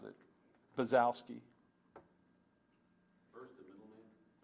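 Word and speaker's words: Bonczewski: Baczewski is how he pronounces pronounces it. Baczewski.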